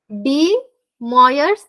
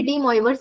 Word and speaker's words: De Moivre: वो हो जाए ना एक्चुअली इसको प्रोनाउंस किया जाता है डी मयर थरम ठीक है सो कभी कभी डीवर्स बोल देती ह मुझे